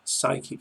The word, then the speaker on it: psychic: In the words psychology, psychic and psychiatry, you must never sound the P.